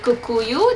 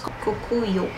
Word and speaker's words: Kokuyo: projects from this brand called kukuyu this is actually a japanese brand but they um i pronounced that wrong they bought kamlin the indian stationery brand so now it's kokuyo camden that's what the